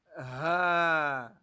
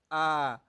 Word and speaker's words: ح: You don't pronounce it as ah. If you pronounce it as ah, it's going to resemble Hamza when we get there, or it's going to be resemble Alif. But you pronounce it as ha.